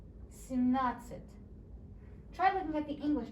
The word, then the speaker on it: семнадцать: Семь, like 1 through 7, and нацать. Семнадцать.